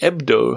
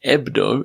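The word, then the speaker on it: Hebdo: was I searched online for Charlie ebdo EB d o without the H based on his pronunciation and found it was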